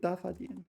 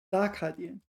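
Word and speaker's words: 打卡点: Is it 打发点? Not 打发点. 打卡点.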